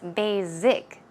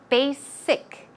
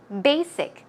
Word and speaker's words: basic: number of people actually pronounce that word as basic z z sound that is incorrect try to pronounce it with a SSS a pick sound so it's basic basic one more time basic